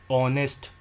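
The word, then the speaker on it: honest: आर इसमें H silent है। जिन words के अंदर एच साइलेंट है उसके अंदर एन आएगा। Because H इज़ एच is silent here. It start with A vowel sound.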